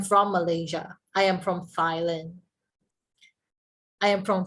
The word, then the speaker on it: Thailand: a lot of people we struggle with the pronunciation with this th we say thailand right we say thailand but the correct pronunciation of this will be you have to sound silent okay silent okay right so